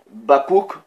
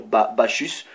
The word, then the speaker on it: Bacchus: Maintenant, Bakouk, ça c'est la prononciation, ou en français on peut dire Bacchus. Ça s'écrit B-A-C-C-H-U-S.